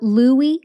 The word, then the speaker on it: Lewy: of dopamine producing neurons so Louie bodies and that's spelled l-e-w-y these are clumps of